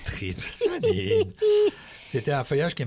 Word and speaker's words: thrips: C'est les trips, ça se dit. C'est ça. C'est pas les trips, c'est les T-H-R-I-P-S. trips.